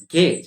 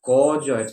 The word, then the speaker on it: gauge: to gauge something okay it's gage it's not gorgeous it's not gays or